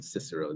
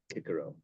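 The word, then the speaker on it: Cicero: a but the old the old Latin C was always a hard C they didn't have cisero they had Kiko it wasn't Cesar it was Kaiser it wasn't ocean it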